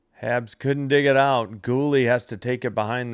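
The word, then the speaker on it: Guhle: Let me I I thought I heard it pronounced ghouly and then on the pregame I wasn't sure that's how it was said. It is just ghoul.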